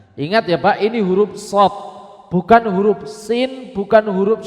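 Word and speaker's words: ص: Pengucapan huruf shad itu dengan 3 langkah yang benar. 1, meletakkan ujung lidah di pangkal gigi seri bawah. Itu yang pertama. Jadi ujung lidah itu Pak, kenakan dengan pangkal gigi seri bawah seperti ini. Kemudian apa? Pangkal lidah bagian belakang ditekan, dinaikkan. Itu yang kedua. Yang ketiga, alirkan angin dan suara satu arah di ujung lidah.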